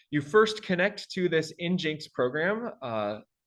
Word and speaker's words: nginx: This program up here, I pronounce it Nginx. The developers pronounce it Nginx. That seems a little bit too cute for me.